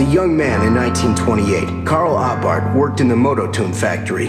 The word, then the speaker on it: Abarth: little bit about Carl abart by the way the H is silent according to theat he